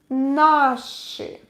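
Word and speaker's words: наши: to write it our but plural nashi i is stressed again nashi for example okay so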